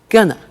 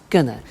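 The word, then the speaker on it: gonna: take the tube now very often when you hear this form you hear a pronunciation like Gunner so they're going to take the tube and that's when we completely contract they are going to and it becomes Gunner and often you see that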